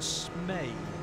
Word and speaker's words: Smet: So it's probably Jürgen Smey, actually, to give it the correct pronunciation.